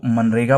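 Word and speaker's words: MGNREGA: इसको मनरेगा पढ़ा जाता है, ठीक है, कि इसमें जी साइलेंट रहता है क्योंकि आई डोंट नो,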